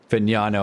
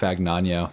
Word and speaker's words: Fagnano: Finano. I've been saying it wrong. I've been saying nano. That's not it.